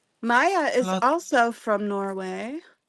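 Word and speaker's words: Maija: So just Maya is also from Norway. Yeah. Yeah. And her name is actually spelled M I A J A. Maya, but she writes it M A Y A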